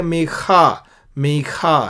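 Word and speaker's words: מיכה: मीका, एक खा होता है, ये मीखा है।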